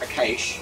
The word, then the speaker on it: Akash: Remember that Akash's name is pronounced Akash. When he shows up tomorrow. Akahush.